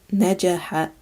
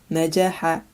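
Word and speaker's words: نجح: This word means to succeed and is pronounced najaha, najaha.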